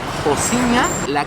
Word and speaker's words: Rocinha: The specific favela is called Rocinha or pronounced locally it "Jociña" Wich is the largest